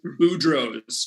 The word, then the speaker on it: Boudreaux's: diaper ash cream commercial just because i could pronounce the word boudreaux's correctly we had to the casting director comes